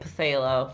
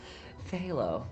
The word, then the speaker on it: phthalo: I've been calling it phthalo for a year until someone corrected me the other day, so phthalo. The P is silent.